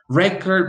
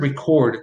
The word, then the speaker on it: record: you so you have the noun which usually receives the stress on the first syllable and the verb which usually receives the stress on the second syllable there are a few